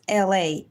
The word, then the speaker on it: Elay: And my name is LA, pronounced like LA, like the city.